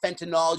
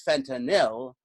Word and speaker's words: fentanyl: making fentanyl illegal and no it's not Fenton all you idiot sorry people who don't read a newspaper it's Fenton ill those of you who get your pronunciation from Trump but yes if you